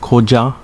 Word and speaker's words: Koza: with the merger of koza and misato pronounced koja and misatu respectively in uchinanguchi nanjo